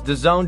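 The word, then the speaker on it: DAZN: no problem dancing otherwise known as the zone pronounce the zone Daz end there's an app you could download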